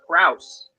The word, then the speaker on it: Krauss: you'll find him oh there it is Ethan Krauss oh that's pronounced Krauss yeah Krauss yeah on yep yeah